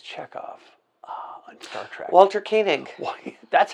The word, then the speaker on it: Koenig: Walter Koenig. That's how you pronounce it.